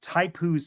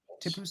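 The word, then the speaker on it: Tipu's: put it yes uh I believe it's pronounced taipus tiger or tip t-i-p-u apostrophe S Type who's tiger tipoos tiger someone's tiger now I don't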